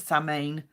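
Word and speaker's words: Samhain: preparation which is autumnn San possibility some people pronounce it saline um Yu which is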